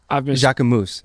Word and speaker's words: Jacquemus: It's actually called Jacquemus. Have you seen them? Jacquemus, actually.